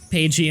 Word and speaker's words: Pagie: Pagey and a KG amazy. I think that line is entirely to let you know how to pronounce Pagey.